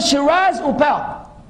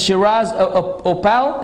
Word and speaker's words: Shiraz Uppal: Brother Shiraz Upal, Pakistani brother.